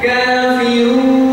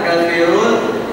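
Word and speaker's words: كافرون: Bi langsung ditarik Kafirun Coba bilang n n n n nah n gimana makud diberian menyampai n n Jadi bukan Kafirun monyok terus salah ya yang benar Kafirun u bibir monyok masuk m langsungarik bersama-sama qu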